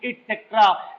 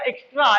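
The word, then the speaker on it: et cetera: हम बोल तो देते हैं बेटा ईटीसी यानी इटसेट्रा, लेकिन टीचर से अगर पूछो ईटीसी का जरा स्पेलिंग बताइएगा, स्पेल करिए, सॉरी वो नहीं बता पाएगा, ये गारंटी हमारी है। तो ईटीसी वो बोलेगा एक्स्ट्रा, एक्सेट्रा नहीं, इसकी स्पेलिंग पूछिएगा वो कंफ्यूज हो जाएगा।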